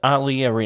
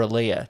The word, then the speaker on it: Aaliyah: So did I, with Aaliyah in it, or Aaliyah, depends how you say it, the singer that died.